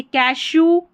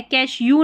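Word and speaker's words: cashew: यहाँ पर देखिए, कैशू, कैशू ऊ है, कैश यू नहीं पढ़ना, कैशू।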